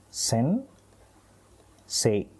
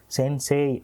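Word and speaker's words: 先生: ஆனா இந்த சே அப்படின்றது இருக்கு இல்லைங்களா அதாவது சே ஏ வரிசையில இ வந்து இணையும் பொழுது அந்த முதல் வார்த்தையோட நெடிலாவே அது வந்து உச்சரிக்கப்படணும். அதாவது சே அப்படின்னே வந்து உச்சரிக்கப்படணும். சென் சே சென்சே அப்படின்னு வந்து சொன்னாலே போதுமானது. சென்சே அப்படின்னு வந்து சொல்லணும்னு அவசியம் இல்லை.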